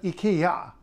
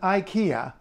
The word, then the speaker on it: IKEA: whatever B if you're going to an Ikea not an Ika an Ikea then you're in an English-speaking country Ikea being the English pronunciation of the star and if you're